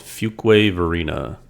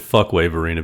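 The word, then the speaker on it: Fuquay-Varina: Just outside of Raleigh in a city called Fuquay Varina. That sounds fake. Yeah, I've been calling it Fuckway Varina because it's spelled Fuqua. I've been corrected numerous times since we've been up there.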